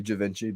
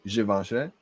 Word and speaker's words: Givenchy: check out the giveaway i usually just say javinci but i think it the correct way to say is givenchy chasing sunday he said